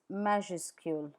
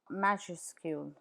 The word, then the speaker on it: majuscule: uppercase in French is majuscule majuscule majuscule please note that the final s is not pronounced anounced in majuscule let's see where the